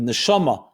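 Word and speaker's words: נשמה: Neshama, soul. Neshima, same letters but pronounced differently, is breath. That in every breath a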